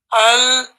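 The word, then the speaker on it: القمر: Like for example, al-qamaru. Al-qamaru. You put a sukoon on the lam and you read the next letter separately.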